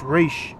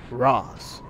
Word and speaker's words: Ra's al Ghul: always bothered me is how they pronounce Ra's al Ghul. It's Raish. Al Gore. How the fuck could they mess that up so bad? It always pissed me off that they pronounced it like that. Ross. It's Raish, dumbasses. You've already tempered your fists.